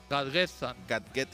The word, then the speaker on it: Gadgetzan: Gadgetzan.